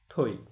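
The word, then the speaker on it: থৈ: অনুরূপভাবে যদি আমরা ধরি থই, থ যোগ ঐকার, এখানেও তখন থয়ের সাথে ওকার দিয়ে রস্বই, মনে মনে রস্বই দিয়ে উচ্চারণ করতে হবে, থই।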